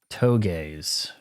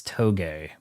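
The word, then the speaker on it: tōge: toes. We pron We learned how to pronounce things correctly. Cavax, it's toge, not to drift club.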